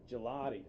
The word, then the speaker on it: Gigliotti: And it's Gigliotti, right? It's a silent G on the second G. Gelati.